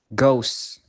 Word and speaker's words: ghost: However, the combination CH is usually pronounced sh, but on small occasions, the H is silent. For example, choir, echo, ghost, rhythm, rhyme.